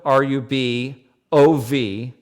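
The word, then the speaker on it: Rubovczak: Yeah, it's the H is silent. Yeah, so it's Rub, R-U-B-O-V, Rubov. C-Z-A-K is Czech. Okay. I was like, Mike Huberbach. Yes, C-Z is like ch.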